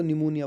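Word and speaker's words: pneumonia: निमोनिया हो गया इसमें पी साइलेंट है इसको निमोनिया बोलते हैं जो निमोनिया होता है ठंड में आपका आमंड है इसमें एल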